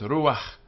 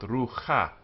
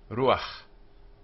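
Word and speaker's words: רוּחַ: And note that the ah here has to be pronounced before the h sound. So it's ruach, not ruha. Ruach.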